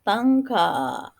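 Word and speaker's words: タンカー: Contoh lain misalkan tanker, ditulisnya kan tanker ya, maka bunyi er-nya menjadi a panjang, tangka ya, tangka, bunyi a panjang.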